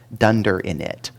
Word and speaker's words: dunder init: It was at PyCon that I first learned how to pronounce that 3 years ago, dunder init. Because it's just really horrible to say underscore underscore init underscore underscore.